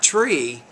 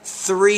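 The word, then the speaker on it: three: So when you pronounce the T, you have to put your tongue between your teeth, and 3, not tree years, but 3 years later.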